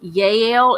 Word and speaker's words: Jael: Jael, but it's pronounced Jael in the Hebrew. J's sound like Y's.